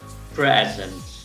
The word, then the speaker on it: present: Fíjense, esta es la primera sílaba, pre, que se hace con esta E bien abierta, pre, y la segunda sílaba queda sin acentuar, por lo cual uso una schwa, present.